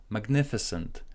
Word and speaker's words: magnificent: Magnificent. Primary stress goes on to ni. Mag, as in hat or apple.